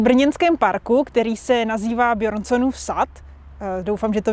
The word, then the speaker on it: Bjørnson: Právě jsme v brněnském parku, který se nazývá Bjørnsonův sad. Doufám, že to vyslovuju správně. Ano, výborně, protože tam je O přeškrtnuté a to se vyslovuje jako E. Takže Bjørnson, výborně.